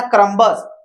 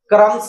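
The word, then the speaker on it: crumbs: ऐसे ही बी के साइलेंट के लिए देखिए क्रम्बस, इसको पढ़ना चाहिए था क्रम्बस, लेकिन ये क्या है, क्रम्स है। बी क्या हो गया है, साइलेंट हो गया है, बी साइलेंट हो गया है।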